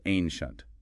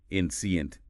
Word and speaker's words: ancient: It's ancient. 2 syllables. Don't stretch it out like ancient.